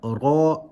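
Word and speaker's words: راء: For now, all you need to know is that ra is pronounced with a full mouth.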